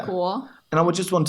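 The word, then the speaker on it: 美国: 美国 I remember I struggled so much with this because it's very awkward to make the third tone. Third tone and the second tone. Right? After each other, yeah. 美国 And I would just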